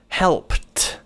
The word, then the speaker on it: helped: ก็ จะ กลาย เป็น helped นะ ครับ คือ Ed นั้น น่ะ มัน สมือน T นะ ครับ มัน คือ help เรา